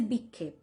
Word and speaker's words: vikshepa: And divergence, or vikshepa, as we say it in English, this is the English pronunciation, but in Bengali we say vikshepa.